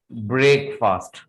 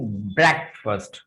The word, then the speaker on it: breakfast: Actually there is नो ब्रेक और फास्ट इन ब्रेकफास्ट। There is नो ब्रेक और फास्ट इन ब्रेकफास्ट। ब्रेक नहीं बोलेंगे आप उसको, ब्रेक और फास्ट नहीं बोलेंगे आप उसको.